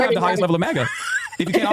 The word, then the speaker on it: MAGA: It is weird that she keeps pronouncing it maja though. She does. She she'll she'll continue pronouncing it maja instead of MAGA.